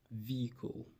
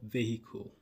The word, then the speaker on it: vehicle: This is pronounced vehicle, not vehicle. Vehicle. You have the H silent.